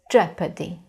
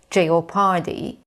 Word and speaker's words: jeopardy: it is e and now in this word the letter O is silent so the pronunciation of this word is jeopardy Jeopardy now your pronunciation